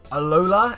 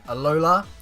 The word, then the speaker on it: Alola: proba pronounce this wrong it's alola it sounds like um Aloha but it's alola which is pretty cool